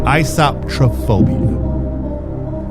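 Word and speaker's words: eisoptrophobia: EISOPTRO phobia. Isotrophobia. That is the correct pronunciation, by the way.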